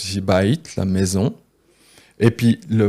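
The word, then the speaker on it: בית: Et ça se prononce ici bait, la maison.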